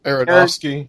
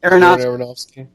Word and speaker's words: Aronofsky: of story, I watched Noah, how do you pronounce his name? Aronofsky. Aronofsky.